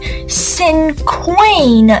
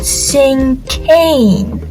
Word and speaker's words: cinquain: Tom you've got it wrong it clearly says sin Queen not sing Kane search it up if you want I assure